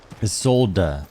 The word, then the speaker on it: Isolde: Isolde, that's how you say it.